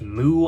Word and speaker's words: MW: Next to that, we have MW, pronounced Moo, I believe, with a questionable spine.